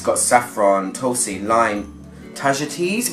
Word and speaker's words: tagetes: It's got saffron, tulsi, lime, tagetes, which I learnt recently is not pronounced tagettes, curry leaf, turmeric, spikenard, olive oil and vetiver.